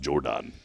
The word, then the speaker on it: Geordan: It's Geordan. Jordan. Jordan. It's pronounced Jordan. It's not as Jordan.